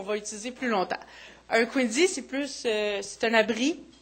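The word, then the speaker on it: Quinzhee: Ensuite, nous avons Annie Dussault qui nous parle de comment construire, comment ça se prononce en fait? C'est Quinzy.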